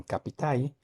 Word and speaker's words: capital: En vez de capital, dicen capitai.